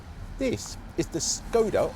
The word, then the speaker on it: Skoda: this is the scoda or scoa as they like to pronounce it these days enyak IV